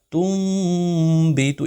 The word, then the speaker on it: تُنبِتُ: الْأَرْضُ مِن بَقْلِهَا۔ اب یہاں پر کوئی اس طرح نہیں پڑھ سکتا کہ تُنبِتُ نہیں ہوگا، یہ غلط ہوگا۔ یہاں پر پڑھا جائے گا تُنبِتُ، یہاں پر آپ نے میم کا تلفظ کرنا ہے اور تھوڑی دیر اس پر رکنا ہے کہ اس پہ اخفا ہو جائے، تُنبِتُ الْأَرْضُ مِن، یہاں